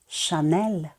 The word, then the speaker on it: Chanel: давайте їх об'єднаємо все H завжди у французькій мові у французьких словах читається як ш немає такої літери в алфавіті тому дві літери вирішили попрацювати разом і давати звук ш А тепер давайте читати